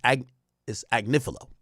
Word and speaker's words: Agnifilo: Agnifilo says, actually, I'm saying his name wrong. It's Agnifilo.